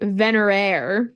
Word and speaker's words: Venerare: down iridescent vener no it is spelled differently though I pronounced it similarly it's v n e r a r e venerare oh yes so she